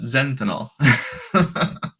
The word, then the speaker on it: Zentanol: Zenthanol, like methanol, but Zentanol.